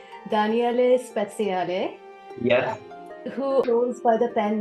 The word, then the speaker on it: Daniele Speziale: spia and if I say his name correctly Danelle spale yes who by the pen name of Rahi